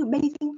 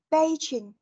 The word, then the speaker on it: Beijing: Trong tiếng Anh ấy, thì chúng ta đã đọc là chữ. Chữ. Đó, tức là nó sẽ hơi giống chữ trò một tí. Hơi giống, tức là chị vẫn phải chu môi này.